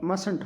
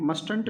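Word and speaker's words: mustn't: में नोट लगाएंगे तो मसंट हो जाएगा। देखिए इसकी स्पेलिंग में कोई फ़र्क नहीं पड़ता, बट इसके जो प्रोनाउंसिएशन है उसमें फ़र्क पड़ता है। मस्टंट नहीं बोल करके हम बोलेंगे मसंट।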